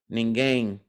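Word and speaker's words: ninguém: n g e m I think there's a u there ninge has a u yes it's n i n g u e m ningang um um so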